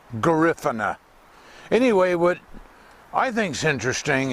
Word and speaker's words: Garifuna: the black people that live there, and it's pronounced Garifuna. Some people say Garifuna, but they say Garifuna.